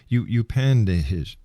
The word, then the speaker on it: Upanishad: In your book, you've referred to many times the ancient texts such as the I Ching and the Upanishad. I believe that's how it's pronounced.